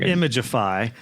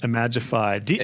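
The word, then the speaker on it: Imagify: wrongly um yeah so i've been saying image of five but imagifi is that do you know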